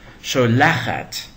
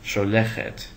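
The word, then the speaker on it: שֹׁלַחַת: Also, in the form of the feminine singular that ends in tav, we find two patachs instead of two segols. Sholachat, not sholechet.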